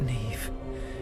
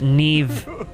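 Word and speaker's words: Niamh: What culture is she from where a name spelled N I A M H is pronounced Neve with a V? Why? Neve, but it's a mh treasure to us forever.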